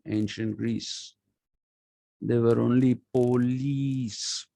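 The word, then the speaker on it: poleis: greece there were only police p-o-l-e-i is the plural of police and it is pronounced police not police so tomorrow i think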